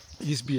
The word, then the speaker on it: Easby: her, I told her I was going to Easby Abbey, and I asked her if I pronounced that correctly.